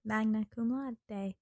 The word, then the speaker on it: magna cum laude: Magna cum laude.